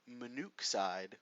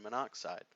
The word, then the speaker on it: monoxide: We don't say carbon monoxide, which is the way it's spelled on the slide right now. Instead, we're going to drop that first vowel and make it carbon monoxide. Now, if we get an